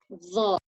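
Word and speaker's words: ظ: So the difference between the Zal and Dha is that they are similar sounding letters. Zal is light and Dha is a heavy, poor sound. Dha, lifting your tongue up in the back of your mouth, and also between your teeth, it's being lifted from the sides.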